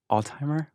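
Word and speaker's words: Altheimer: Altimer, Arkansas. It's like outside of Altimer? Pine Bluff and Little Rock. Yeah. That's like the incorrect way to say Alzheimer's.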